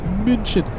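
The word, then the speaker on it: München: We have the king of the skies, Lufanza, flying in from Munich. How do the locals say it? The locals say mincin.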